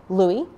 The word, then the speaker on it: Louis: This is Louis, or Louis, depending on how you want to pronounce it.